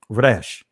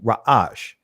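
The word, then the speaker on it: ריש: In the Israeli language is pronounced Resh. In ancient Hebrew, Ra'ash, right?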